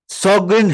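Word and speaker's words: Sjögren: देखें अपन सगन सिंड्रोम इसको पढ़ने में अपन इसको सगन पढ़ते हैं भले इसकी स्पेलिंग में एस जीओ लिखा है लेकिन इसको इसका जो प्रोनाउंस होता है व सोगन करके अपन इसको पढ़ते हैं सोगन सिंड्रोम क्या होता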